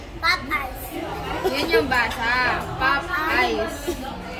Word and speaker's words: Popeyes: I yun yung basa pop eyes two no this is Pop and this is eyes two syllables hindi tatlo napay Yes hindi Sosyal